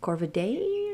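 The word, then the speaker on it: Corvidae: I think it's actually pronounced corvid day, right?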